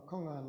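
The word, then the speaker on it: kong-an: is command practice so you may be familiar with the Japanese pronunciation and uh we pronounce it the Quran or Sino or Korean pronunciation of about the same word uh kongan literally means a public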